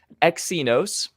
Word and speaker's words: Exynos: from a one-year-old modem it was the samsung exynos that's how you pronounce that apparently thank you for everyone who